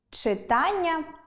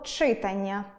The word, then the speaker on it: читання: так, буде дОнька чИтання або читАння? звісно, буде читАння, як і завдАння, як і виконАння.